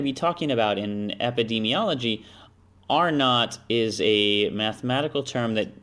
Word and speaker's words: R naught: R2, R naught. That's how it's pronounced.